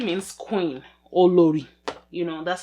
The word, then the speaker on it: Olori: one by the way olori means queen or lori you know that's how you pronounce it i keep pronouncing it like i'm american okay this is the